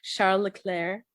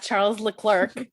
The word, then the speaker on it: Charles Leclerc: or charles i do i did try to commit to pronouncing it correctly charlo leclaire not charles leclerc but he does respond